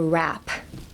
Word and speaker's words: wrap: Actually, it's more of a rap.